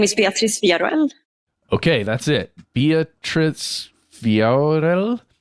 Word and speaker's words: Beatriz Villarroel: My name is Beatriz Villarreal. Okay, that's it. Beatriz Villarreal. If you want to spell it, to look up her name, it is Beatriz Villarroel.